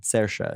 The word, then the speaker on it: Saoirse: Saoirse. Saoirse. There you Yeah, go. but it's not spelled that way, so I wouldn't have known. Saoirse.